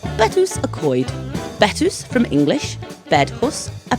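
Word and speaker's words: Betws-y-Coed: a lass at a mix sex Secondary School Betsy coed sorry another cker is bets WOD which just sounds like someone disputing what's for their tea it's pronounced betus aoid betus from English bedus a pray housee and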